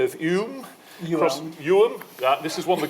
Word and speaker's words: Ewelme: Ewelme.